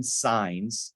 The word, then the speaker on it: Saenz: welcome my guest today signs you you corrected me on your pronunciation of your name right and you said you're